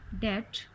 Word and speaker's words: debt: Third in the third column the word letter B is silent. Settle, dumb, debt, plumber, numb, doubt. In fourth column the letter G is silent.